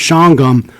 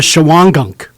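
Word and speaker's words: Shawangunk: made the mistake of calling the town of shangham the town of chawangank i got supervisor volks great guy he came up afterwards and says you really need to learn how to pronounce our town it's not chihuango it's shangha so anyway well that's good to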